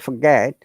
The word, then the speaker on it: forget: and honestly this would forget uh Native always forget they do not want to pronounce t at all I've got it yeah